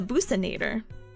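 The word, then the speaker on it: buccinator: There's a muscle called the uh there's two pronunciations and you have to for you have to forgive me there. It's called the buckanator, but I've also heard people call it the businator.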